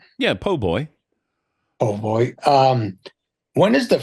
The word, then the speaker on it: po' boy: Yeah, po' boy.